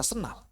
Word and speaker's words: sendal: Tulisannya sendal dibaca senal.